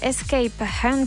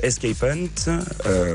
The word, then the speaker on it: Escape Hunt: Donc Escape Hunt, prononcé escape comme l'échappée en anglais et hunt comme la chasse, puisque c'est une chasse d'évasion.